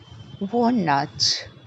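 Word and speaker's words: walnut: of nuts number one W nut W nut please do not stress on the L hor nut two pistachio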